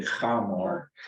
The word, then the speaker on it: Hamor: Yeah, it's actually Hamor.